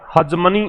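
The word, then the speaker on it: hegemony: हजमनी है। प्रोनाउंसिएशन भी note down कर लेना, हजमनी इसका प्रोनाउंसिएशन है।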